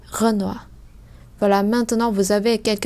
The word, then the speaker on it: Renoir: Như vậy O-I trong tiếng Pháp thì sẽ giống với lại O-A-oa trong tiếng Việt. Như vậy đây không đọc là noi hay khoi hay choice hay roi hay toi, mà chúng ta đọc là oa.